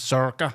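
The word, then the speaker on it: Sorcha: So Serica's name is Zerka. That's how you meant to say it.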